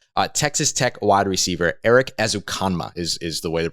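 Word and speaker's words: Erik Ezukanma: able to grab uh texas tech wide receiver eric azukama is is the way to pronounce his name as a comma is six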